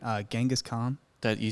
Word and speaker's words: Genghis Khan: do you actually say this first name uh Genghis Khan that you said it right okay not ancient